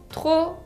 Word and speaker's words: trop: Trop significa demasiado. Así que peu, assez, beaucoup et trop. Trop se escribe con una P final que no se pronuncia.